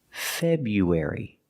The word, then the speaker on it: February: February not February February we know the r is there but most of the time we don't pronounce it we don't say February we don't pronounce the r it's pronounced February last February we were